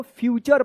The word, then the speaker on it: future: पढ़ेंगे इसको, FUTURE, इसको आप फुटरे मत पढ़िएगा, क्या पढ़ेंगे इसको, फ्यूचर पढ़ेंगे।